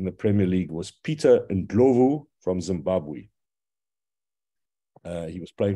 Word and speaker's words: Ndlovu: a tragedy, you know, he was known as Peter Ndlov when he's actually Peter Ndlovu, which is a very common surname in Southern Africa. And every time Southern Africans would have heard this horrible mispronunciation of the name, of course, they would